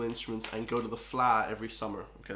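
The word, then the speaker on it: Fleadh: We all play Irish musical instruments and go to the FLA every summer. Okay, that word is pronounced FLA to all the non-Irish people, okay? The FLA, yeah.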